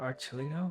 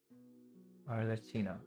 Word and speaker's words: Arlecchino: Or Archulino? I want to say it was Archulino, but I'm probably pronouncing that wrong. Arlecchino, yeah, pretty sure that's how you pronounce it.